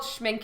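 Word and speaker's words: Schmincke: I think it's called schminke, and that's the correct way to pronounce it.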